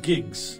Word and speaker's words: gigs: 每到月底呢，就会发现流量不够了。说到这个呀，我们说流量的时候，用的单位一般都是说多少多少兆，或者说多少多少 G, 对不对？那么在英文里面它是怎么读的呢？ Okay, we use megs and gigs.